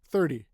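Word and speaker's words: thirty: are saying 30 30 but we don't say 30 if you listen to us we say 30 30 like a d almost right so 13 is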